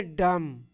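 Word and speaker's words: dumb: डम। क्या पढ़ेंगे? डम। बी साइलेंट हो गया।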